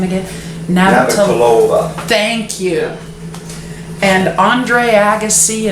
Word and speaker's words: Navratilova: Martina how the heck did you pronounce her last name again? Navratilova.